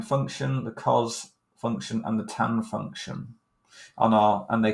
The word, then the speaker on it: Theta: or the Roman alphabet this is from the Greek alphabet and it's pronounced Theta um but it's that